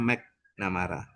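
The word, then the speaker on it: McNamara: Tulisannya MC Namara, bacanya MAC Namara.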